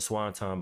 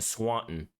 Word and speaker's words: Swanton: Why is he pronouncing the Swanton Bomb like that? Why does he keep on saying Swanton or Swanton or like this? He's not even pronouncing the T.